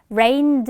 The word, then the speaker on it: rained: 라는 뜻이고, 자, 아마도 우리 귀에 들릴 때는 rained 이렇게 정확히는 안 들렸을 거야. 끝에 있는 드 발음은 역시나 탈락되면서 it rained so much last time 이렇게 들렸겠지만 우리는 요런 지난번에 라는